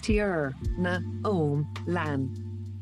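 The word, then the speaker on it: Tierna Iomlan: we as you all know my name is tiernar homeland it is pronounced as tear na om lan i am an ancient war machina you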